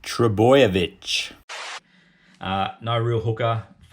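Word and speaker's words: Trbojevic: then vanilla Blake and trouble which play in first week it's pronounced true boy a no real hooker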